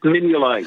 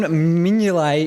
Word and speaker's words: Mignolet: name's uh simon or it's spelt it's not pronounced in that way usually it's minion simon mignolet is correct but can we get a round